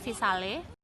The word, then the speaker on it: Visale: Yang pertama Visale. Tulisannya Visale, bacanya Visal.